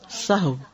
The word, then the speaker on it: سہو: سب لوگ اپنا تلفظ بھی درست کر لیں. سہو جیسے لغو، ٹھیک ہے، کرب، نفس، سہو.